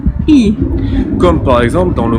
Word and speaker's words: И: l'envers, vous la visualisez, mais ça n'a rien à voir avec le N, je le reprononce, c'est un I. И.